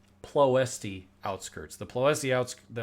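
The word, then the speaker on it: Ploiești: the theme of its it's pronounced plough st outskirts deploys the outs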